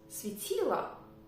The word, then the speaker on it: светило: I pronounce it as светило, but it's written as светило. But there is no stress to the last letter O, So it is pronounced as a sound A.